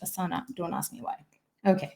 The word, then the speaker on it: Asana: asana right spelt like the yoga asana but pronounced asana don't ask me why okay but it is